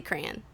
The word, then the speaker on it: crayon: You say all crown? No, I don't. Oh, okay. I say crayon. That's how I pronounce it.